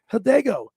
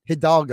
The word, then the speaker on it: Hidalgo: to be having uh Hannah hidego had a Lego one Hidalgo Hidalgo she's gonna be she's from Paul six she's three times a year or something Billy's so excited he can't say her name right yeah he's so over